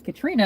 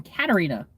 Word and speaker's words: Katarina: Everybody pretty much says Katrina, and it drives me nuts. It's just like, no, I am Katarina. There is another A in there.